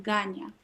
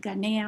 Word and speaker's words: Ganya: Gaia with an N, Ganya. Yeah. Mother Gaia. Good girl. Well, it's Thanks with an for- N, but it's the same because people ask me how do I pronounce it, Ganea or it's Ganya, Ganya.